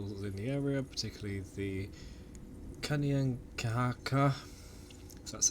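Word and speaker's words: Kanien'kehá:ka: the indigenous people within the area particularly the kanyang kahaka because that's how you say it and as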